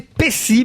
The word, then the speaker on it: Pecci: Et d'ailleurs, on doit prononcer Pessy, même si c'est 2 C dans votre nom.